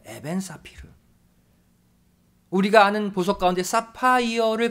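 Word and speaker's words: אבן ספיר: 보석으로 비유하고 있습니다 일단 보석 은 히브리어로 에벤 사피르 라고 발음합니다 에벤 사피르 우리가 아는 보석 가운데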